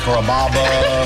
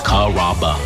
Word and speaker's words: Carrabba: Growing up, people always had a hard time pronouncing my name. People chop it up pretty good. You know, Carrabba, Carababa, Caramba. It's a really easy name to pronounce. It's Carrabba.